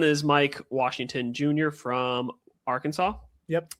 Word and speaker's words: Arkansas: from Arkansas. Yep. I almost said Arkansas. I'm like, that's not the correct pronunciation.